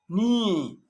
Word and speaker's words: knee: you know this one a k is not pronounced when it comes before and n like knife no knee no not knowledge the later